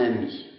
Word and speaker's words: ami: francés es posible, son amis. Porque ami se escribe distintamente si es mujer o si es varón, pero no se escucha. Es un E muet.